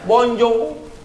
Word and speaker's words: Bonjour: swap Hai tulisannya bonsoir Tulisannya Bonjour bacanya bonjong tulisannya bonsoir bacanya Bones